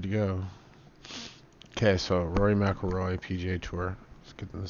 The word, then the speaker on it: McIlroy: McIlroy.